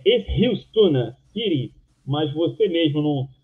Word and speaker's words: Eskilstuna: Você falou que a pronúncia correta é Eskilstuna City, mas você mesmo não pronunciou Eskilstuna, evidentemente, porque a grafia é com K, né?